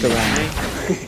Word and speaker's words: Garen: But Bradley, it's pronounced Garen.